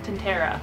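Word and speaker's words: Tintera: by Amy too shiny actually it's pronounced tenta This is What Happy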